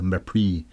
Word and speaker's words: mépris: I guess that's what le mépris means, or le mépris, M-E-P-R-I-S, with an accent on the E.